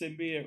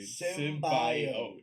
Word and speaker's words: symbiote: Except they pronounce symbiote wrong. Symbiote, dude. Symbiote.